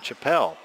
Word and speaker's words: Chapelle: got a number 12 number 12 is Justin Chapelle Justin Chapel exactly I checked specifically with him on our pronunciation on that one foul going to one